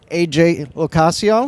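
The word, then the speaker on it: AJ LoCascio: yeah that's Alicia lowor AJ locaso you said it right yeah that's it yeah and we have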